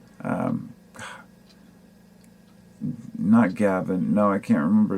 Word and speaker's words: Ngo: other day andy andy no ngo is his last name i guess it's pronounced no he lives in portland